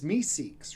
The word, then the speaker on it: Meeseeks: I was trying to remember that character's name and I kept pronouncing it wrong, but it's Meeseeks, right?